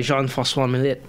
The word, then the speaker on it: Jean-François Millet: All right, so next one, the Gleaners by Jean-François Millet. What? That's how you pronounce his name.